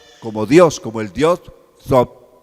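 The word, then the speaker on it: Thoth: Y aquí llegamos al Dios Sot. Se escribe como Tot, se escribe Tot, pero se pronuncia Sot.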